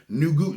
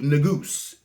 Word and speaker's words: Negus: It's actually pronounced Nugus. Nuhgoose.